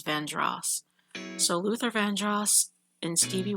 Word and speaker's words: Vandross: Luther Vandross. Some of us say Vandros, but I think he pronounced his name as Vandross.